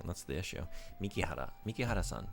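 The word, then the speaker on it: 美樹原: Mikihara. That's why. I'm wrong. I had her name wrong. That's the issue. Mikihara.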